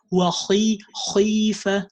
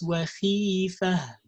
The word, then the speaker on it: خيفة: Exaggerating with kha in the state of kasra is also common mistake for tajweed learners. They think that, oh, okay, kha is a heavy letter, I have to make it heavy in the same heaviness everywhere. It's not like that. It's not khifa. No, it's khifa.